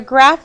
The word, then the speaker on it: graph: put the name graph remember graph is one of those funny words that has pH making the F sound at the end type graph save you'll